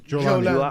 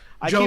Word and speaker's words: Jolani: Jolani. I keep Jolani. wanting to call him Just Giuliani. think Jew and then like Lani.